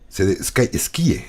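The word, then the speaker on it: Skye: Esquíe. Se escribe Esquíe, S-K-Y-E.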